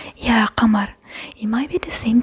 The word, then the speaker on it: قمر: It comes from the bottom of your throat, qamar, not qamar, qamar, qa, qa.